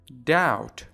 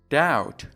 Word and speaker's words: doubt: Doubt. Doubt. Doubt. دقت کنید بی در اینجا تلفظ نمیشه.